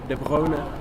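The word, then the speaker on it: De Bruyne: stepped up and de de brona as should correctly pronounced de brona was absolutely Sensational I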